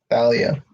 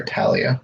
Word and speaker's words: Thalia: So, and so overnight the tree / barrier is repaired, but it turns out Thalia, or Talia, depends on how you read it and or pronounce it, is actually brought back to life.